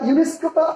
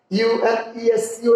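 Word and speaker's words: UNESCO: এই প্রতিষ্ঠানের সংক্ষিপ্ত রূপ ইউনেস্কো, যেটাকে আপনারা ইউএনইএসসিও, ইউনেস্কো হচ্ছে। এখন এটা ইউনেস্কোটা আপনি এভাবে বলেন নাই যে এমপি বর্ণমালা অনুযায়ী বলেননি, ইউএনইএসসিও এভাবে বলেননি, বলছেন ইউনেস্কো, যেন এটা একটা ওয়ার্ড।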